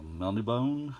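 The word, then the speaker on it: Melniboné: Reach with a Elric, a Melnibone is how I pronounce it. I'm sure that's not the correct way, by Mr.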